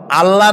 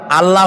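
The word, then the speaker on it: الله: বলেন তো আল্লাহ নয়। কিন্তু আল্লাহ হচ্ছে অশুদ্ধ।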